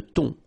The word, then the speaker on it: thon: Remember, H here is not pronounced. Le thon.